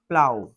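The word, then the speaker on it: plough: ডে একদিন হি had been walking behind the প্লাউ দেখো এই জায়গাটা অনেকে ভুল করবে উচ্চারণ করে প্লাগ প্লাগ উচ্চারণ করবো না এখানে এটা উচ্চারণ হবে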